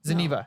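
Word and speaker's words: Zeniba: Zeniva. Thank you.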